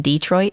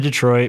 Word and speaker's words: Detroit: is that correct pronunciation Detroit no oh no it's Detroit it's actually a French word Detroit Detroit Detroit it's